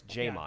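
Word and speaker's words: J'Mon: We got to say it right, it's Jamon. Yeah, Jamon.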